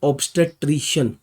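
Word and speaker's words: obstetrician: Pronunciation समझ लीजिए, ऑब्स्टेट्रिशियन।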